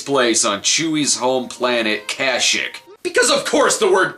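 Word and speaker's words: Kashyyyk: on Chuy's home planet Kashuk because of course the word cash is in the name the special pronounces it cos ook because if the plot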